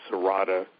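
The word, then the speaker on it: serrata: Um the one that's used for uh mental functions and things like that is um it's called Sarata would be the second name of it. How do you spell that?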